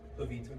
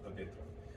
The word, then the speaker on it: Pavitr: for a minute, because in the movie they pronounce it a lot closer to Pavitra, And that is because there is a real Indian name, Pavitra. There is not a real person's name, Pavitr.